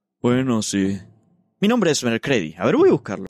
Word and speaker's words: Mercredi: Mi nombre es Mercredi. A ver, voy a buscarlo. Ah, sí. Significa miércoles y se pronuncia... Mercredi. Como el día.